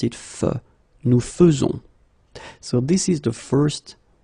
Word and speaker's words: faisons: e as normally you should, but you will pronounce it like e. Nous faisons. Okay, it's really fe, fe, fe. Nous faisons. Okay, you see it with e, but then you pronounce it fe. Nous faisons.